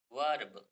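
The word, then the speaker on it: verb: word है ई है ई के बाद आर आए तो ई का जो प्रोनाउंस होगा वो अ होगा क्या होगा बच्चों अ होगा देखते हैं एस एग्जांपल के तौर पर हम समझते हैं जैसे ी ई आर बी ी ई आर बी वर्ब इसको क्या पढ़ेंगे बच्चों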